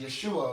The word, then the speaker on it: Yeshua: later after Jesus left his name would be pronounced Yeshua that's where we get the word Joshua and all this other